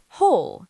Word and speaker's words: whole: Whole. Whole. Same as hole in the ground.